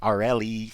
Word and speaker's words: Aurelie: I was like, but it's because it's spelled Aurelie. So I was like, how do you say that? And he's like, Aureli. I was like, Rue. I was like, the R-E is like Rue?